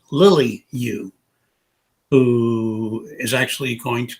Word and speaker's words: Yu: Charles Yu, who I know is pronounced Yu, and we just had